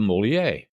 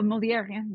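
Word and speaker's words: Molière: reading plays and I love the plays of Moler I hope I'm pronouncing that right oh molier yeah molier okay and there many of his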